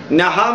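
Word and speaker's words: नः: It will become Na, ordinary Na. That Na means not, do not. That Na means not. Naha means us, we people. So when you are chanting the mantra without giving importance to the pronunciation of the letters, the meaning will go exactly opposite.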